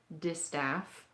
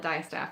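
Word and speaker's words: distaff: how to use my disstaff i always call it dye staff and i'm sorry if i keep mispronouncing it um i i didn't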